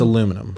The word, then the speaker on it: aluminum: That one more than anything when people are like, aluminium, because it's like, not, you're pronouncing it how it's not spelled. So now you're just fucking it up. It's aluminum.